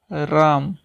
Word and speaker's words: रामः: जैसे हम लिखते हैं राम, तो राम के पीछे अगर ये 2 बिंदु लग जाएगी तो हम इसका उच्चारण करेंगे रामः, अर्थात जो विसर्ग है उसका उच्चारण हा के समान होता है, अर्थात इसका उच्चारण हम कैसे करेंगे, रामः।